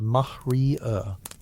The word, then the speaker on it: maria: They're real geological features, vast ancient lava seas called Maria, pronounced mahrier.